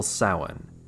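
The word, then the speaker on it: Samhain: also intent on reviving the festival soin the Celtic precursor to Halloween and they even pronounced it right this time the festival of soul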